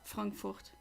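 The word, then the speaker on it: Frankfurt: say it the way do I pronounce it the way Americans do it but usually I'm conditioned to say it in the German Way so I'll stay with stick with frankurt come on Latios so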